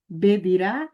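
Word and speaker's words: בדירה: Shlosha estudantim bedirá achat. Três, Shiloshá, três estudantes. Bedirá. Olha aqui mais uma vez, eu pronunciei B, tá bom?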